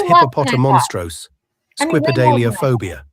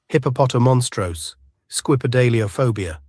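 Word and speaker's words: hippopotomonstrosesquipedaliophobia: The correct pronunciation of this word is hippopotomonstrose, squipedaliophobia. Hippopotomonstrose, squipedaliophobia. It is quite simple to pronounce when you break it down.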